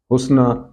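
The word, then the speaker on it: حسنى: اندازہ لگانا ہوگا کہ اس کا تلفظ حسنہ، صغرا، کبرا ہوگا، نہ کہ حسنی، صغری وغیرہ۔ اس کے علاوہ بہت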